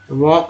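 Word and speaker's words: walk: वॉक में एल जो है साइलेंट है, साइलेंट लेटर वाले कुछ वर्ड्स होते हैं यही कंफ्यूज करते हैं।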